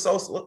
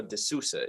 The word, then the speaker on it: De Sousa: Don't pronounce his name as if he's like a new nickname for Chief Keef. Okay, it's Silvio De Sousa, is it not?